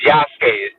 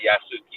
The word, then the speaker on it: Yasuke: I'm just gonna say it's Yasuke. That's how you say it, not Yasuki. It's Yasuke.